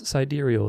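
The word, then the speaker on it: sidereal: a huge difference anyway siderial time pronounce sideral is a system of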